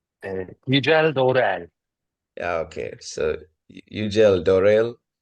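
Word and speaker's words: Yücel Doğruel: So the next speaker would be, I don't know how to pronounce this, Yücel Dogruel. Yücel Dorel.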